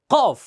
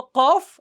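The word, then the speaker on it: ك: কফ, এটা হলো কফ, আর এটা হলো কাফ। কফ, কাফ।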